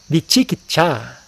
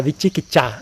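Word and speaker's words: vicikicchā: Kukucha, Vichikicha, eu acho que é assim que pronuncia em Pali, né?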